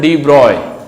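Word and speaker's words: de Broglie: तो एक साइंटिस्ट था डी ब्रॉगली, नाम तो उसकी स्पेलिंग देखोगे तो डी ब्रॉगली, इसको बोलते हैं डी ब्रॉय। डी ब्रॉय भी बोलते हैं वहां पे, इसको डी ब्रॉय बोलते थे, इसको डी ब्रॉय।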